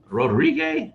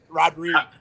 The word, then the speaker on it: Rodrigue: are john and seth rodrigue how do you say your name no no you're not even close brother rodrigo like rodriguez without the z wow that doesn't help